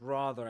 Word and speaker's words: rather: Rather, class, starred, charm, enchanted. All these words that appear in the game are pronounced with the same vowel sound. A the long a sound typical in the word star or start.